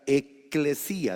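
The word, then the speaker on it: ekklesía: iglesia en el griego original, es la palabra eclesía, es una palabra compuesta. Eclesía se escribe E con doble K, L-E-S-I tildado en la I, A, eclesía.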